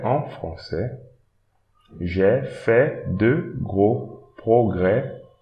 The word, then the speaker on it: français: Don't pronounce this S also, français. Don't pronounce the D S here, comprend.